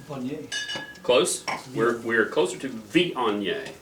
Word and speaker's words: Viognier: We're closer to Viognier. So we're kind of like a Vion, and then Y-E-A-H, yay, and Viognier.